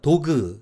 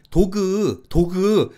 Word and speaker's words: dog: 예를 들어서 한국 사람이 미국 사람 앞에서 뜬금없이 I have a dog 이렇게 발음을 하면 미국 사람이 바로 You have what? 이렇게 물어봅니다. 그러면 한국 사람이 도그 이러다가 미국 사람이 못 알아들으니까 나중엔 독 이러다가 결국은 에이 DOG DOG 이러면 미국 사람이